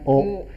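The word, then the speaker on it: を: Kemudian kalau partikel itu tulisannya he dibaca partikel wo tulisannya wo dibacanya o.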